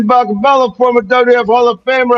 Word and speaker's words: Bakabella: I am talking about the one and the only, the Baklaba. What's going on there, buddy? You said my name wrong. Bakala, former WF Hall of Famer.